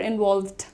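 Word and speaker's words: involved: आप कह रहे हैं इनवॉल्वड इनवॉल्वड इनफेसिस कहां पर है? ओ के साउंड पर है। इनवॉल्व्ड सबसे ज्यादा क्या सुनाई देता है? ओ सुनाई देता है।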